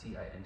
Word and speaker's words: Thien: So let's say like I want to go like, so my name's Tin, but like spelling out wise it's Thien, pronounced Ting.